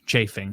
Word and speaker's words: chafing: ] it's seal straining which one of us is pronouncing chaing correctly it mighta chaing like church the like church chafing yeah oh I had it wrong okay were you saying